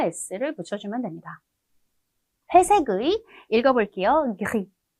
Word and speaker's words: gris: gris, gris라고 읽거든요.